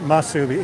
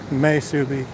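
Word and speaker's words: musubi: Masubi. That's how you pronounce it, Masubi. M-A. It's spelled different, but you pronounce it M-A-S-U-B-A-I. Masubi.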